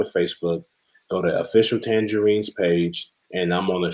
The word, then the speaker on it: Tanjareen: And hope they know how to spell tangerine. It's not spelled like the fruit. It's spelled T-A-N-J-A-R-E-E-N. T-A-N-J-A-R-E-E-N. Tangerine. Not like the fruit, but like the name.